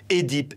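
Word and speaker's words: Œdipe: double voyelle OI, comme Édipe, énologie. Ces termes se prononcent avec un E, mais la prononciation E est devenue courante par confusion avec le second cas.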